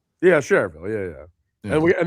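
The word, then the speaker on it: Schererville: I mean, the spelling looks like Sher Shererville. Maybe it is. I don't know. But no, I know it is. But do you say it like that? Sherer, because I feel like people from there would say just Sherville.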